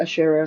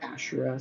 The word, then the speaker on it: Ashera: some people pronounce it ashera some people pronounce it asher i think the narrator said ashura so it's all good how could this be